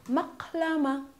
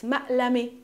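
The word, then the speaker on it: مقلمة: This is called maqlama. In my dialect, it's ma'lami. We don't pronounce the qa.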